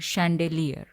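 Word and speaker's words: chandelier: मध्ये सैलियस अस म्हणतात सैलियस याच स्पेलिंग जरी सीच ने चालू होत असेल तरी याच प्रोनंसिएशन मात्र शने होत शेलर फुलांच्या सजावटी सा विविध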